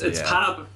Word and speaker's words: Pab: No, it's Pab because I think it's short for Pablo, but Seriial would probably pronounce it Pablo.